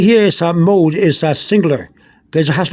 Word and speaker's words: moho: So, although it says moho with an H, the H is not pronounced, so it's mo.